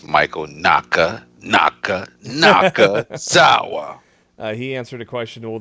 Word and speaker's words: Michael Nakazawa: Michael Nakazawa answers. You said it wrong. Okay, help me out. Nobody cares about this jobber. No, I'm going to say it. It's Michael Nakazawa.